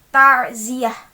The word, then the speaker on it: ta'ziyah: pada tengahnya takut2 api jika kita membacanya dengan normal harusnya dengan huruf ain tarziah i go i nine